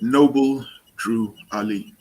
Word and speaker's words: Noble Drew Ali: yeah yeah I'm still here how how you pronouncing the name is it is it Noble drw Ali yep Noble Drew Ali is it isir is it fair to ask